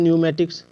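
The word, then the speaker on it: pneumatics: आप देख सकते हैं न्यूमेटिक्स न्यूमेटिक्स न्यूमेटिक्स में पी है है ना तो पी का उच्चारण नहीं करना है ठीक है न्यूमेटिक्स मतलब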